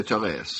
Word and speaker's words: Therese: I'm not sure how you pronounce this. Teresa? I would say Therese. Therese. Use a French pronunciation.